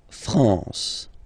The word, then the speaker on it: France: A-N here, nasal en. La France.